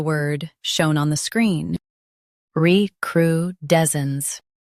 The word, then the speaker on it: recrudescence: recrudescence Both US and UK have the same pronunciation of this word. recrudescence Now read the syllables shown on the screen naturally. re cru des cence recrudescence Emphasize d e s and soften cence.